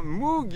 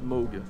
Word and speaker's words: Moog: Donc c'est vrai qu'en France, on le sait pas trop, mais on prononce Moog. On prononce pas Moog. Mais bon, bien sûr, je vous en veux pas. On peut prononcer Moog aussi. Moi, je l'ai fait très longtemps.